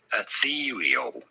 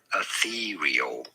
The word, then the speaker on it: ethereal: You do want to stress on the second syllable, the syllable. Ethereal. Ethereal.